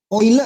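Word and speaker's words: Euler: benar-benar saula berkebun hanya oil ya Eh ular ini bacanya oil bodoh orang Swiss leonhard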